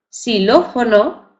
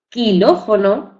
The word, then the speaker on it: xilófono: es la de s si tenemos siló fono aunque esté escrito con x no decimos kiló fono ni ex siló fono no decimos la letra La pronunciamos con la letra s Aunque tenemos que saber que la escribimos con xilófono siló excelente aquí conserva